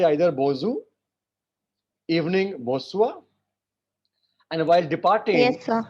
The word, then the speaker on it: bonsoir: They say either bonjour, evening bonsoir, and while departing, Yes, sir.